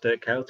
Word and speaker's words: Kuyt: It's like Dirk Kuyt. He should have never been pronounced Dirk Kuyt. It was Dirk Kuyt.